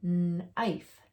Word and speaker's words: knife: So in all these words, you didn't hear me say the K sound. I skipped right over the K and go right to the N. The K is quiet in those words.